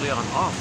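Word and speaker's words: Leonoff: It's not Leon Off, right? It's Leon Off. It's spelled O-F-F, like Leon and then O-F-F, Leon Off.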